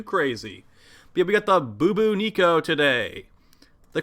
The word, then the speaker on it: Bubonico: little bit too crazy but we got the boo boo nico today the correct pronunciation of this new arm cannon and yeah